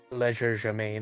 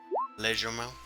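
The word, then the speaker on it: légèrement: hand, leisure germain, or however that Lagardeman. thing. That's how I pronounce it.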